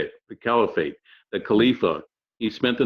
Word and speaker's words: Caliphate: that's how you say it, the Caliphate, the Khalifa.